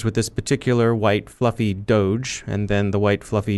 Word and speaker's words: doge: named after a dog but not pronounced like dog because it came from an old meme that originated in the home star runner puppet show our home star runner calls strong bad his doge you crack me up